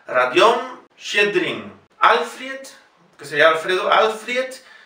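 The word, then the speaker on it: Rodion: Radion, fíjense, la R en Rusia nunca va a sonar una R fuerte, como un burro, sino Radion, Radion, la primera O no es sílaba tónica, por lo tanto lo pronunciamos como A.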